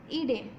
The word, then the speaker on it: ईडे: First word ही है जिसमें संधि है अग्नि मीडे, इसको हम ड जैसा प्रोनाउंस करेंगे, इसकी संधि अलग करेंगे अग्निम प्लस ईडे।